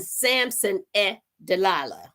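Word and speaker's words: Samson et Dalila: Samson e deala and the reason why I did the E is because it spelled s a m s o n e t and dalala is spelled D A L I L A so it's done in the native tongue uh writing on January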